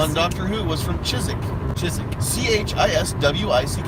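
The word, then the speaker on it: Chiswick: yeah but CH is WI CK you know Chyzyk Oh a chaste with no in series history she's a Chyzyk which is Donna Noble and doctor who was from Chyzyk which is CH is WIC peaches so she's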